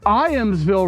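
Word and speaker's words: Ijamsville: All right, so I have stopped at the end of Ball Road and Iamsville Road. The J is silent, and you don't have to put the side stand down like I have, but I did it anyway.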